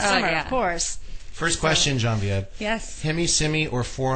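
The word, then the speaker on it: Genevieve: Her name is Genvieve Chappelle. All Yay! Yay! You Hey, pronounced Genvieve.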